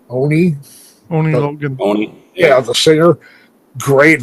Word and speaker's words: Oni Logan: And how do you pronounce his name? Oni Logan.